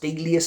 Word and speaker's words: Delius: composer called Frederick Delius, I believe it's pronounced Delius, something like that.